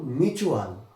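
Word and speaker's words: mutual: আবার দেখো মিউচুয়াল, এখানেও টি আছে কিন্তু আমরা কি পড়ছি টিকে ট না বলে চ পড়ছি।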